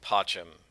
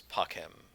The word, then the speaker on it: pacem: They didn't have a soft C back then. So it wasn't pacem, it was pacem.